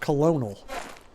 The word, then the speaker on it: colonel: It's spelled colonel, but it's pronounced colonel.